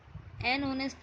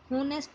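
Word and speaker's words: honest: जैसे एग्जाम्पल दिया गया है, एन ऑनेस्ट मैन, एन आर. अब इसको हम होनेस्ट नहीं बोलते. क्या बोलते हैं इसको? ऑनेस्ट. इसमें जो एच है वो क्या रहता है? साइलेंट.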